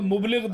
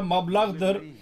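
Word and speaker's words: مبلغ: Seyyid Muhtar Ahmed Şahjahanpuri bir defa mubliğ derdi. Ben bir defa çok konuştum. Ben biliyorum siz çok büyük bilgili bir zatsınız. Sen biliyorsunuz Arapça mablağdır, mubliğ değil.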